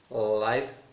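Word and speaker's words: lithe: এখানে লাইথ প্রোনাউন্সিয়েশনটা লিতে নয়, লাইথ প্রোনাউন্সিয়েশনটা, এটার মানে হচ্ছে পরিশীলিত, ভদ্র, নম্র, একটা চিতাবাঘের মতোই তার হচ্ছে চালচলনটা ছিল।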